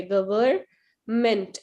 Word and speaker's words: government: गवर्नमेंट ही हिंदी का word है, English में गवर्नमेंट होता है, गवर्नमेंट, एम इसमें साइलेंट होता है, तो आपने पहले गवर पढ़ना है फिर मेंट पढ़ना है.